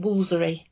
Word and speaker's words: Woolfardisworthy: the village's name out, it reads very clearly Woolfardisworthy. Yes. But everybody local calls it Woolsery. So it's not a silent letter, it's a silent half the word. Yes. we lose the whole Fardisworth bit and just keep the Woolsery.